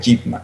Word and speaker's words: Ip Man: que es el maestro Ip Man, o Ip Man, como algunos lo pronuncian.